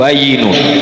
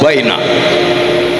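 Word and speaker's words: بَيِّن: Al-halalu bayyinun wa-l-haramu bayyinun', "tiga huruf: ba, ya, nun digabungkan. Lalu aku mendengar seseorang berpidato. Dengan menggunakan 'nun ', mereka membacanya sebagai" al-halalu bayna wa-l-haramu bayna.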